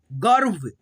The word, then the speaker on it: गर्व: रेफ की मात्रा ऐसे, तो पहले र को पढ़ेंगे, आधा ही र को पढ़ेंगे व से पहले, गर्व।